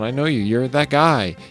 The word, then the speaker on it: Guy: You're that guy. His name's Guy, even though it's pronounced Gee.